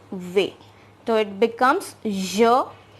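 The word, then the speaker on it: vais: a i s here our last letter s is silent and v means to go and here's the pronunciation v so it becomes jo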